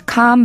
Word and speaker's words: calm: Someone told me long ago there's a calm before the storm. I know it's been coming for some time. 잘 들리셨죠? 참고로 침착함, 고요함을 뜻하는 calm은 철자는 CALM이지만 L은 소리가 나지 않고 묵음입니다. calm이라고만 발음해요.